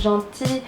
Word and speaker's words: gentil: Cuando se dobla la consonante tenemos uno que es muy característico, que es gentil. Gentil es gentil, simplemente que la L no se dice y se dice la I.